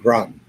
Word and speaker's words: Groton: Groton. Groton. Thank you, because I can never pronounce it.